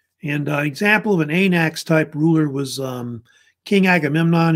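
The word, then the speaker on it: wanax: here, they're called an anax. Usually the W is silent. And an example of an anax type ruler was King Agamemnon, you may have heard of, who was the king of Mycenae.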